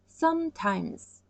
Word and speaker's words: sometimes: 그 다음에 sometimes 가끔씩 sometimes okay? 여기 이 발음은 Z 발음 같아요. Z okay? Z 발음 만들고 싶으면 J 말고 S 발음 해야 돼요. S 하고 okay? 크게 S 발음 하시면 Z 소리 나와요.